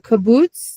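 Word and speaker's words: קובוץ: kaboots, the the hear the kaboots down here, which is the ooh, the long ooh. And I always say if you're falling down the stairs and you're teetering at the top, you're going to say ooh. But otherwise, it's like blue.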